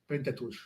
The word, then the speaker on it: Pentateuch: What is the Pentateuch? I hope I'm pronouncing it correctly. Pronounce it right. Pentateuch.